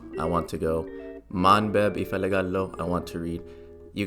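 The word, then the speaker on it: እፈልጋለሁ: Ifelig al and then o, like oh my gosh or something, but this is technically the correct way to spell it out.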